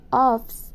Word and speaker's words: office: A pronúncia de office, ela é office mesmo, tá, gente? Não é office, como a gente costuma falar. Home office, não é home office, é home office. A gente não pronuncia a letra E no finalzinho de office. É como se tivesse um S ali e a gente não pronuncia a última vogal, a letra E. Acaba ali mesmo na letra C, office.